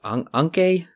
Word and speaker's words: Anke: She plays Anke.